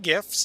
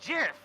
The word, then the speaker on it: GIF: pronounced gif because uh the G stands for graphical it wasn't J stands